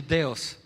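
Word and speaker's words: θεός: Es como si se volteara la lengua. Deos, ¿ok? Muy bien, gracias Mara. Entonces hay que pronunciarlo así, Deos.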